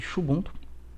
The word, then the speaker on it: Xubuntu: Pelo inglês americano, né? Aqui no Brasil, o pessoal chama mais de Xubuntu, pode chamar como você quiser, tá?